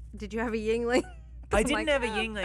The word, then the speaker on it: Yuengling: Yingling. A Yingling. that is. Yingling. What's a Lingling? Yeah. Yingling is a local beer. Yingling. And it's spelled like Anyways.